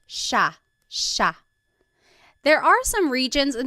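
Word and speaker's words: siya: It looks like it should be pronounced sea, but it's actually pronounced sha sha. There are some regions in the Philippines that might pronounce it sa but for the most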